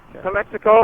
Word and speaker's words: Calexico: all over the state Kelly Beckford how you pronounce that Calexico Calexico uh-huh Calexico that's close to the base uh